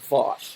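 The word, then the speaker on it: Vaush: But one particular is this left-wing vlogger called Vosh. I believe it's Vosh. It's spelled V-A-U-S-H.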